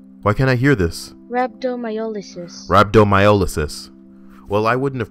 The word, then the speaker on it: rhabdomyolysis: Abdominiosis. Google, help me the fuck out here. It's been a while. Just gonna throw pronunciation. All right, here we go. Abdominiosis. Abdominiosis. Why can't I hear this? Rhabdomyolysis.